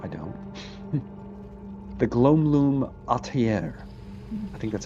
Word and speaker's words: atelier: Is that atelier? Atelier. I'm not sure how to say it. Sounds good to me. It's French. It's French, huh? You say it with the French accent, you have said it correctly, huh?